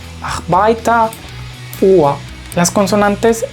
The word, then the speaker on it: Arbeiter: Por ejemplo, esta palabra se lee erziehen, erziehen, o esta arbeiter, arbeiter, y esta ua, ua. Es muy sutil el sonido de la R porque le precede una vocal, así que mucha atención.